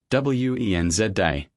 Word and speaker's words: Wednesday: WENZ day. Always. The D is completely silent.